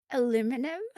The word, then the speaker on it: aluminum: Can you pronounce it the American way? Aluminum?